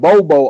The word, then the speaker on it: Bobo: former scrapbook said called Bobo Olson that's what I got wrote down but when I heard them pronounce his name I heard Bubba Olson so that's why